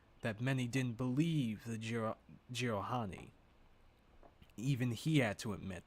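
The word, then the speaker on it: Jiralhanae: It was clear to Thel that many didn't believe the Jiralhani.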